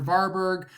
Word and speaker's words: Vareberg: V, Dr. Vareberg, pronounced R as in car, Berg.